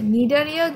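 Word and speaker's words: Cnidaria: আচ্ছা, নিডারিয়া যদিও আমরা উচ্চারণ করি নিডারিয়া, বাট বানান কিন্তু প্রথমে সি দিয়ে শুরু হবে।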